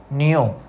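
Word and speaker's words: know: In this word we are pronouncing it एज न्यू, okay.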